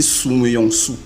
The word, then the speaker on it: Siméon: Parce qu'en grec, Siméon, c'est dit Souméon, Souméon.